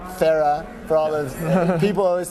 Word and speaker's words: Farrar: in Boulder Colorado with Tyler Farah got your pronunciation right almost let's hear it Farah Farah for all the people always think it's Farrar understandably but the RS is silent Tyler thanks